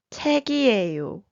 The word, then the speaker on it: 책이에요: 받침 fills in for 이응 of 이에요 to pronounce the word. So in this case, when 책, which means book, is combined with 이에요, it is pronounced as 책이에요.